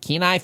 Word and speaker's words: Kenai: Kenai Fish is spelled K N AI. Keenai Fish, family-owned company, delivers wild caught seafood straight to your door from the waters of Alaska.